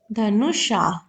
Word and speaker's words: धनुष: धनुष। ठीक है? ये श है ना तालाबे श है। इसको कैसे प्रोनाउंस करते हैं? श सा नहीं शा ठीक है धनुष शाह अब देखो मिलान